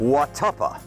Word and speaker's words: Watuppa: Mike, what's the correct pronunciation of this water body? South Watuppa Pond. Watuppa.